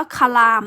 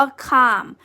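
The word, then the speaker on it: calm: ต่อ มา ข้าง ข้าม คำ นี้ จะ ไม่ อ่าน ว่า คา ราม นะ คะ อ่าน ว่า ข้าม ไม่ ออก เสียง ตัว L ดัง นั้น จะ ออก เสียง ว่า ข้าม แปล ว่า สงบ นะ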